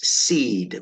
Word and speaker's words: cede: okay next word is seed when you seed something c d that c is pronounced as an S to seed something um